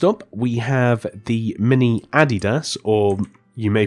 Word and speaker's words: Adidas: mini City next up we have the mini Adidas or or you may pronounce it Adidas so we have again just this cool display